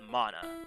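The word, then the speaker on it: Manah: ethereal material is called it's called mana you know like the magical presence but it's spelled m-a-n-a-h and it's named after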